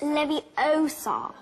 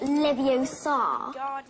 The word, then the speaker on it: Leviosa: someone's eye out besides you're saying it wrong it's Levi Oar not Levi Oar you do it then